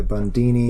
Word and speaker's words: Bundini: He went by Bundini. Yeah, rhymes with Houdini.